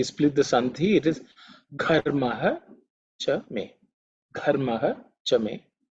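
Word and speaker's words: घर्म: In this mantra, Gha, in terms of pronunciation, you have to pay attention to the first letter in the mantra, which is Gha, which is the fourth letter in the Ka Varga. It's an aspirated consonant, so you have to say it with a bit of emphasis, with a lot of air.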